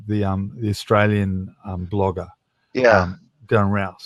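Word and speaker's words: Darren Rowse: I think is it Darren Rowe, the Australian blogger. Yeah. Darren Rouse. Darren Rouse, rhymes with Rouse.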